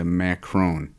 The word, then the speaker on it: macaron: um and they always confuse the name hence pronunciation important of macron or macaroon and I think what we're looking for is the macaron so that's what we're